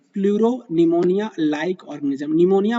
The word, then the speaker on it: pneumonia: निमोनिया बोलते हैं PNEUMONIA। Basically यहाँ पे P जो होता है ना वो साइलेंट होता है, तो इसलिए इसका नाम क्या होता है, प्लूरो निमोनिया लाइक ऑर्गेनिज्म होता है।